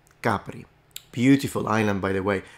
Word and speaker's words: Capri: Capri um this is I've heard people here say it Capri so it must be once again a French influence in Italian the stress is on the first syllable the first vowel and we say CI Capri beautiful Island by the